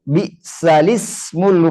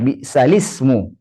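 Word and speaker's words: بئس الاسم: Nah, berarti di surah Al-Hujurat ayat 11 ini bacanya kalau disambung bi'salismul fusuqu ba'dal iman. Nah, bi'salismu. Enggak boleh bi'sal ismu. Tapi bacanya bi'salismu.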